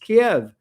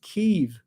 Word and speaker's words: Kiev: And yes, it is pronounced Kiev. It is not pronounced Kiev, which I've been hearing a lot in the news lately. When Trump requested copies of